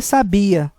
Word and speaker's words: sabia: Já a segunda é sabia, sílaba tônica no bi, que significa, vem do verbo saber. Ela sabia.